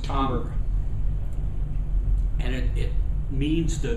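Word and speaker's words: timbre: spelled t i m b r e it's pronounced tber and it it means the very nature and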